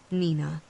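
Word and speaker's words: Neenah: a little town called Nina yep it's pronounced exactly the way you think it is the greatest tragedies of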